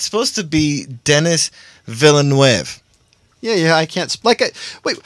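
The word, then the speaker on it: Denis Villeneuve: Forrest Gump writer Eric Roth to pen Dennis Villeneuve's Dune reboot. They're rebooting Dune, officially. Wait, did you just say Dennis Villeneuve? Because that's what it sounded like you said. And it's supposed to be Dennis Villeneuve.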